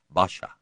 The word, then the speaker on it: pasha: He was a commanding well-spoken man and people usually addressed him by the Ottoman honorific hani pasha which they pronounced with a b sound so that it came out basha.